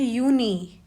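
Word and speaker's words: Juni: मई को कहते हैं माई जून को कहते हैं यूनी।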